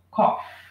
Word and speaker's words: cough: Ó, cough. A palavra cough, se a gente terminar no F, significa tosse. Cough. Ok? Se a gente falar o I, já muda para café.